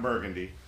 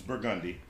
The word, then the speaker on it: Burgundy: Like, you got Burgundy. It's not Burgundy. It's Burgundy. Like things like Chapatulas, like